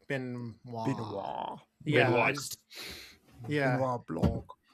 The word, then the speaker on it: Benoist: Yes, it's Benoist, yes. Okay. I wasn't sure if I needed to go more French with it, like Benoist.